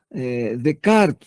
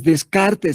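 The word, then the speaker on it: Descartes: Si es como Decart, no es descarte, se escribe, pero se pronuncia de cart.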